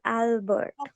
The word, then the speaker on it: Albert: is Albert Einstein okay Albert the sound of a you heard is ah it's Albert Albert instinct in stain